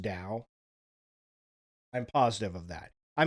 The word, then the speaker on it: Tao: am about 900% positive this guy is saying Tao but it's actually pronounced Dao I'm positive of that I mean okay I'm